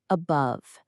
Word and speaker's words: above: Above. It works the same way as a go. The stress is on the second syllable. Above. So that a just relaxes into awah.